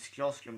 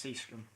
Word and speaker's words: Sjöström: I used to think it was Sjöström because of the way it's spelled, but it's Seastrom.